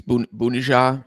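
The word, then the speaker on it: Bounedjah: I think it's Bunesha is how you pronounce his name.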